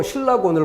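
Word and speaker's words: 실낙원: 근데 이건 뭐예요? 발음 기호입니다. 신라권. 발음이 이렇게 돼요. 그 발음대로 적어버린 건데 이게 맞다고 착각하면 그 뜻이 뭐가 돼요? 앞에 두 글자를 묶어서 즐거움을 잃어버린 그러한 정원이죠. 잃어버린 낙원이 아니라 즐거움을 잃어버린 정원.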